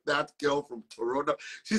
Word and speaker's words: Toronto: me said what I said Toronto he said no it's Toronto I said I know but they pronounce it that way but Dr I really